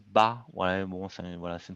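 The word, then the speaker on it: 八: Il se prononce bas.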